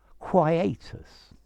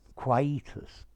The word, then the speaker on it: quietus: hi there students quietus quietus both pronunciations are possible i think i would go with quietus but um very many other people say quietus okay quietus is a